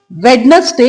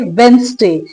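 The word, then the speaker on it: Wednesday: Next time don't say वेडनेसडे। Instead you should say वेडनेसडे।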